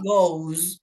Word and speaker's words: goes: For example, Emmanuel pronounced the verb to go, and he said, I go, you go, he goes, she goes, it goes, we go, and they go.